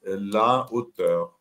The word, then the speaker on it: hauteur: Mas você diz la hauteur.